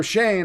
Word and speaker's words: Schoen: Now in New York, when you have Joe Schoen or Joe Shane, I always say Schoen because it's spelled Schoen.